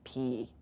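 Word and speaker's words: πι: finished this letter here I've heard this butchered a thousand times in 20 different ways this letter here is exactly the way it looks phonetically this is what it is it's P so if you can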